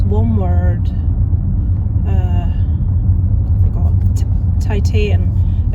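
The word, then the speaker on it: Titane: Titan. It looks like Titan. It's pronounced Tita.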